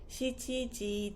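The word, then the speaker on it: 七時: We commonly say shichi with the time, not nana. So for example, it's 7 o'clock would be shichiji desu.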